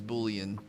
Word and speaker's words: bouillon: Am I pronouncing it wrong? Bouillon. Bouillon. Bouillon. A bouillon. It's Cajun. Oh, that's why I'm pronouncing it wrong. I see all the letters, I want to pronounce all the letters. I don't want to skip the letters.